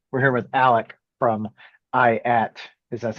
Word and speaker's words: IATT: We're here with Alec from IATT. Is that how it's pronounced?